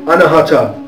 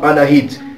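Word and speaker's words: अनाहत: این جلسه به چاکرای 4 می پردازیم به نام آناهاتا یا آناهات یا آناهیت، بستگی داره در کدوم ایالت هند تلفظ بشه.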